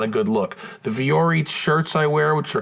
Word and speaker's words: Vuori: Now, it's not spelled exactly like it sounds. It's spelled VUORI.